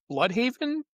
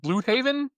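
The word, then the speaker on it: Bludhaven: I pronounced it blood haven, but I feel like that's maybe too on the nose. Yeah. Yeah. Okay. How does he pronounce it? I think it's like Blue Haven.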